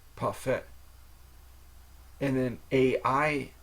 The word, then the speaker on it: parfait: if you get a parfait from McDonald's it's pronounced paret and then a i n i in like